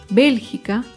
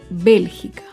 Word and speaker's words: Bélgica: Bélgica se acentúa en la antepenúltima sílaba. Bélgica.